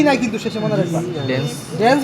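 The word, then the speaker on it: dens: কি ওডেন্ট process dance বা ওডেন্ট process dance বানানটা কিন্তু ডি ই এন এস ই নাই কিন্তু শেষে মনে রাখবা ডেন্স ডেন্স বা ওডেন্ট প্রসেস ঠিক আছে আর এই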